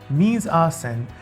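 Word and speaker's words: mise en scène: design and editing so let's begin with miz arsene pronounced means arsene this french phrase started the whole concept of earth theory amongst others this literally means to put into seal and is actually a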